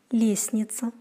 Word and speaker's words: лестница: С-т-н произносится как с-н. Например, лестница.